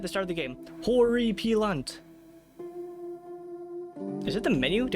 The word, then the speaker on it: Horripilant: Horriy peelant.